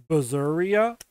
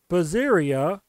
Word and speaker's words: Berseria: of tales of berseria basically berserk you know like the word Berserk but instead of Berserk it's berseria but yeah um I